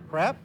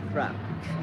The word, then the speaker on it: crepe: Crepe? Crepe. Crepe. Not crap. Crepe.